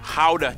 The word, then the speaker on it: Gouda: And the pride and joy of the nation, Gouda cheese. Yep, that's how you pronounce it, guys.